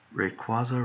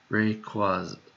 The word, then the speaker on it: Rayquaza: where is it oh rayquaza remember raid break was our way but that's like emphasized in the center syllable rayquaza rayquaza remembered what are